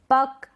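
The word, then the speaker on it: puck: फिर है पक, एक्नॉलेज, पक, एक्नॉलेज, लॉक, ब्लॉक, पक, एक्नॉलेज। यहाँ पर हम सी को प्रोनाउंस नहीं कर रहे।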